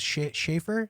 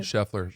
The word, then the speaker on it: Scheffler: But I was thinking about the Masters, and the guy who ended up winning was Schaefer. Is that how you say it? Scheffler.